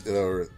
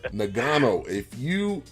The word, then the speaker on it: Ngannou: I think that is Ngannou. Okay, totally butchered that one. But Ngannou, his former fight, Ngannou, I'm going to put his name in the